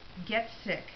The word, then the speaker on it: Getsick: This is the first chapter by Jason Getsick. That's how he told me how you pronounce it.